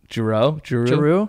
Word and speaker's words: Giroux: Giroux. It's spelled like Matt, like G-I-R-O-U-X.